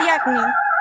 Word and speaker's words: Diagni: Ajá, sí, se pronuncia Diagni.